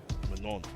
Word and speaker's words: Manon: That's the proper Manon. French way to say it. The N is silent. Manon.